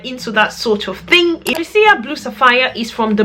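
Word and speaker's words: Boadicea: In fact, she taught us how to pronounce it. She's like, it's not Bodecia, it's Bodecia. It's Bodecia.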